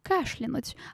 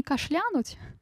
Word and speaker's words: кашлянуть: Кашлянуть от слова. А кашель, да? Не кашлянуть, кашлянуть от слова кашель.